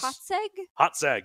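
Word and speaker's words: Hațeg: of pronunciations I had to look up the pronunciation of the island it lives on oh yes hot sag yes h-a-t-e-g it's an island that is not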